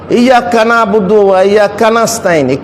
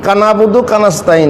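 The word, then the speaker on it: إياك نعبد وإياك نستعين: ইয়াক্কা নাবুদু ওয়া ইয়াক্কা নাস্তাইন, কানাবুদু কানাস্তাইন নয়। কাউকে আপনি কানাবুদু বলে দিচ্ছেন তো ভারী মুশকিল, তো এইরকম না, বলা ইয়াক্কা নাবুদু ওয়া ইয়াক্কা নাস্তাইন, সঠিক উচ্চারণ।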